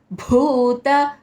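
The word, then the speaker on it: भूत: నాలుగో చరణం సర్వ సర్వ భూత భూ బ మా మ ప్రణక్షరం స్ట్రస్ ఇచ్చి పలకాలి సర్వభూత హితే హితే త ఏత్వం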